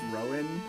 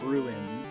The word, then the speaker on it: Rowan: I know your name is probably pronounced Rowan, like a tree, but I always want to pronounce it Ruin.